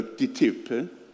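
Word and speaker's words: TTIP: investment partnership petitti ip che gli europei pronunciano tt ai piedi amministratori ten si pronunciano al preferisco pronunciarla ticket che suona più secco più veloce non è un trattato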